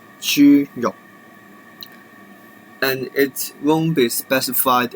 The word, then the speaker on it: 豬肉: It is pronounced as 豬肉, 豬肉.